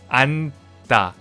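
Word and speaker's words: 않다: So words like anta, we don't really pronounce the j. It is a 받침, but we don't really pronounce it. It's just silent letters. So we actually pronounce it as anta.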